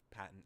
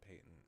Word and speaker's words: patent: patent I patent patent the dictionary gives both Paton and Payton as possible pronunciation so I'll just say Paton I'm patently against stepping